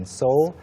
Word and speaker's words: Seoul: 다들 아시겠지만 서울은 영어로 발음 어떻게 한다? Seoul. Seoul. 영혼은 발음 어떻게 한다? Seoul. Seoul. 그러면 영혼하고 서울의 영어식 발음하고는 발음 차이가? No, there is none. 없죠. I was about to say none. Wait, 없다. Yeah, you were going to answer me in Korean. Yeah, so there's no distinction, no difference between 서울 and 영혼. Right. They're exactly the same.